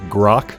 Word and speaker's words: grok: up with you that that word is actually pronounced grok i've only heard it